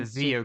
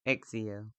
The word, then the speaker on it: XIO: Zeo crew, I think it's Exio. Exio crew, whatever. It's XIO. That's how it's spelled. Were you saying Zio? Zeo, That's would be spelled with a Z.